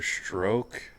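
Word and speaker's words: Strzok: it Peter stroke what Peter stroke I think that's how you say it spelled with a z though it doesn't matter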